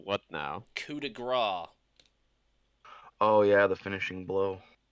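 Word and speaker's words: coup de grâce: a wait how do I spell what now coup de gras oh yeah the finishing blow it's it's built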